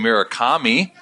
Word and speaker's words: Murakami: give it a whirl with everyone listening DJ Mira Comi is that right that was perfect oh dude